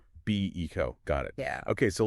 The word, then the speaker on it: Beco: And remember that's BO pronounced BECO. Be eco.